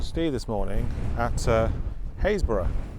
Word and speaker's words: Happisburgh: join me and Steve this morning at uh hayborough not Happ isburg um it's it's written down as Happ ber but is pronounced hbur is what I'm led to believe